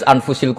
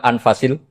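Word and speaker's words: أنفس: saja di sini ditulis anfusil Kutub. Kalau saya baca anfasil kutub karena maknanya kitab ter baik. Kalau kitab terbaik bacanya bukan anfus tapi apa? Anfas.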